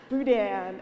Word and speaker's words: boudin: but the boudin I didn't say it right boudin and we're like what's this boudin and crackle